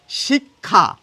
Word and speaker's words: শিক্ষা: কিন্তু শব্দের মাঝে বা শেষে থাকলে কিন্তু এর উচ্চারণ সম্পূর্ণ বদলে যায় দেখুন শেষে রয়েছে শিক্ষা শিখ কখ শিক্ষা ক এবং খ আসছে দেখুন